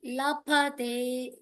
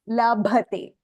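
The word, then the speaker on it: लभते: I have to stress pa. La. Pa. La. Pa. Ba. Correct. Very good. Vidyarthi. Vidyarthi lapate vidyam. Dhanarthi lapate dhanam. Labhate. Labhate. Like bhayam. Dhanarthi lapate dhanam. Lapate. Labhate.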